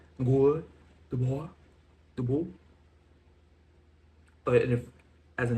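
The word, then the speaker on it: Guy Debord: Now he's French so it's I'm going to pronounce it in a the best French the faux French way I can. Good boy the boy.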